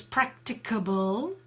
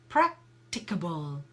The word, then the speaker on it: practicable: me pronouncing practicable it's practicable practicable so we have quite a few syllables that practicable four syllables practicable so that's the schwa sound going in so blue so there